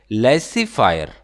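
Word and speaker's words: laissez-faire: हैं इसको ठीक है यह जो है वह साइलेंट है लस्सी फायर यह याद रखना इसका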